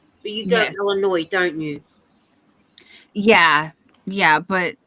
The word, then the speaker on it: Illinois: See, I go to say Illinois cuz you got the yes on the end. But you go to Illinois, don't you?